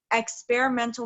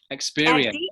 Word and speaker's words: experiential: How do you say it correctly? Experiential. There we go.